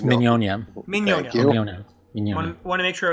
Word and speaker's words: Mignogna: saying his name right is it not Nick no it's Minnie Anya you want to make